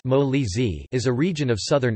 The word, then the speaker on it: Molise: Molise, pronounced Molise, is a region of southern Italy.